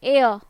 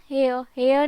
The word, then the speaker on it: heir: अब यहाँ एयर ना, हेयर नहीं है, ह इज साइलेंट हियर.